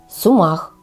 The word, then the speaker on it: сумах: широтах нашей страны и произносится это слово с ударением на последний слог Сумах ещё одно всем известное